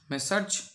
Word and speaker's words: Messrs: এর উচ্চারণটা কীরকম হবে? মেসার্জ। তাহলে মেসার্জ, দেখো মিস্টার, তার প্লুরাল ফর্ম কী হবে?